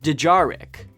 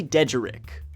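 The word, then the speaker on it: dejarik: used to pronounce it dejar Rick I was putting the emphasis on the wrong syllable when I met the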